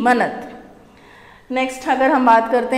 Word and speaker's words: manat: और इसकी जो करेंसी है वो है मनत। मनत बोलेंगे इसको, MANAT, मनत।